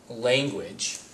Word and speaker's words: language: just kind of there language is interesting because the u actually makes a w sound language you hear a bit of a sound there uh to make the d hard so it's a hard g with that what sound and then argue